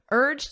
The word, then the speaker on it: urged: someone to do something urged him in the past simple listen to my pronunciation urged d d so it ends on a very soft D sound let me write that